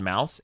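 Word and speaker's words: Maus: Holocaust graphic novel called Mouse, M-A-U-C, I think, or S? M-A-U-S. And it's a Pulitzer Prize-winning one. Like Dead Mouse? No. Yeah, I guess like Dead, but without dead, so just mouse.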